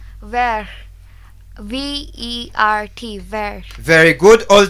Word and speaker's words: vert: Yes, Sirali, can you spell for them the color vert? Vert.